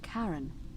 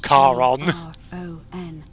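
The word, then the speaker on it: Charon: with a coin just as you described it pronunciation is a little off the name you heard wasn't Karen it was C A Car on car on the ferry man yeah the river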